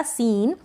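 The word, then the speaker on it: scene: Last में ई आएगा तब इसका उच्चारण नहीं होगा। इससे पहले जो भी लेटर होगा उसको थोड़ा लंबा प्रोनाउंस कर देंगे। तो ये बन गया सीन।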